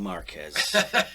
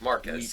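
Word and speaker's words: Márquez: Thank you for properly pronouncing Marquez, like so few gringos ever do.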